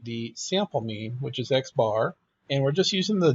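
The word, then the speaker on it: x̄: meaningful for us because we pronounce the sample mean as x bar, then just call the variable x bar.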